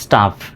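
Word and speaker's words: tough: তাহলে দেখি প্রথম থেকে টি ও ইউজ স্টাফ। টিও ইউজ সটাফ উচ্চারণ হবে। অর্থাৎ জি এইচ এর উচ্চারণ এখানে ফর মত।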